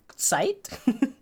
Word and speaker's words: Zeit: Did you know Zeit is the German word for time and is pronounced Zeit?